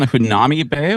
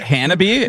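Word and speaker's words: Hanabie.: Hunami Bay? What? Is that Hanabi? Am I been saying it wrong the whole time?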